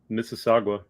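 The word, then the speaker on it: Mississauga: you said it right well miss aaga it's four syllables okay I just I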